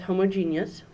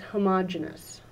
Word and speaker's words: homogeneous: that's word is actually pronounced two different ways depending on whether or not you're a chemist or if you are